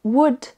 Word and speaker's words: would: Il en existe d'autres où le L est silencieux, comme would pour utiliser le conditionnel, could et should. Donc dans tous ces mots-là, le L est silencieux, ne se prononce pas du tout.